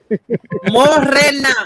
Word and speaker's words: Morena: It's morena. You don't have to go Morena. Hey, Ramon. Yeah. Did I say it right? Yeah. Now you can say Yeah, Ramon. Yes. You can say No, Ramon. she wants you to say Moraine. You have to say it like that. No. Don't drag that R when you say my name.